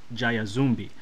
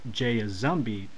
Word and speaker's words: Jayazumbi: It's kind of like a phonetic mixture of the English pronunciation of the letter J, and the rest of the name is kind of the way someone who normally speaks Spanish would say it. So I pronounce it as Jayazumbi, though everyone else who pronounces it as Jayazumbi are technically correct as well.